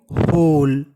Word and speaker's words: whole: WHOLE होल। होल। होल का मतलब होता है संपूर्ण। होल का मतलब संपूर्ण। आपको बता दूं W हमारा वो क्या है? साइलेंट। इसे क्या पढ़ेंगे? होल।